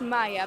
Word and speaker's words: Maja: No, Maya it's same, but in Polish it's J instead of Y. So, Maja? No, it's Maya, but J is pronounced as J.